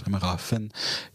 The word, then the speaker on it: Bremerhaven: mes cours d'allemand, mais le V de Bremerhaven, ça prononce Bremerhaven, comme dans Funbourg, et on ne dit pas Vonbourg.